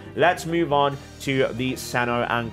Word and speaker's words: Cyno: are gonna be like why are you pronouncing Santa on kandake that way well for me as someone who has had my name atsu mispronounced almost all my life I would like to do my due diligence and trying to do do my best to correctly pronounce the names from the respective characters from different cultures and I think the one